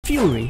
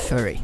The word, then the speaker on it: Furi: Fury a game where you come for the music and well stay because of the music and no it's not pronounced furry it's fast adrenaline filled and